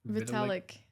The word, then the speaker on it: Vitalik: Vitalik? Vitalik.